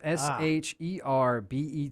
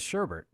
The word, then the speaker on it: sherbet: sorbet as well probably it's s-h-e-r-b-e-t but everybody says sherbert but it's sherbet which is that that